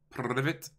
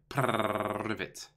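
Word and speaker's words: Привет: Privet. Privet. Gotta roll your R's.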